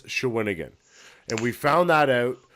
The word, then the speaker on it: Shawinigan: So we did find out that the actual pronunciation of that town is Shawinigan, and we found that out from the TVA sports people that were present at the fight.